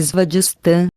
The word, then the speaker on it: Svadhisthana: Chakra sexual, pronúncia-se Svadhisthana, localizado no cóccix, base da coluna vertebral.